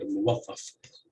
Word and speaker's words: muwattaf: So the example I have here is the word muwattaf. So the stress would be on the third syllable.